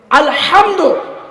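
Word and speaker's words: الحمد: রয়েছে মাদ্রাসা রয়েছে আপনি কোরআনের সূরা ফাতেহাটা সঠিকভাবে উচ্চারণ করার জন্য চেষ্টা করছেন না পারছেন না চেষ্টা করছেন না আলহামদু বড় হা কন্ঠনার মাঝখান হতে উচ্চারিত করলে আলহামদু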